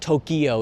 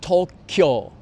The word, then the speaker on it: Tokyo: Japanese TV shows, and when I say Tokyo, I say it in the American way when I'm speaking Japanese, and then the host once corrected me, so I got a little bit like, it was somewhat traumatic, like, oh really? It's not Tokyo, it's Tokyo.